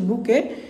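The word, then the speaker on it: bouquet: তোরা কিনি ওটা হচ্ছে বুকে এখানে টি সাইলেন্ট এইটি এর উচ্চারণ নাই ত বি ও ইউ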